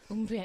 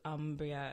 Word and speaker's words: Umbria: Umbria, yeah. The Italian pronunciation with that hard oo as opposed to Umbria as it might look.